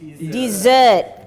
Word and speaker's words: dessert: No, pronunciation desert and desert. Make sure this one is desert. Yeah, the one that you eat after your meal is dessert. Can I have some dessert? If you say, can I have some dessert, they'll give you sen. Okay, so pronunciation, just one S difference.